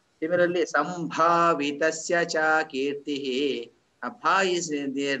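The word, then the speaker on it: सम्भावितस्य: Similarly, sambhavitasya cha kirtihi. Bha is there, no bha. There is, you need to pronounce it as bha instead of ba.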